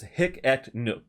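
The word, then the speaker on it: Hic et Nunc: a decentralized application so it's oh so it's hicket nuke so i had a i had it not pronounced right uh but you know it's another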